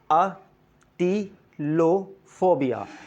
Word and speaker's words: atelophobia: So let's talk about this, atelophobia. Atelophobia. So the correct pronunciation of this word is atelophobia, which means fear of imperfection.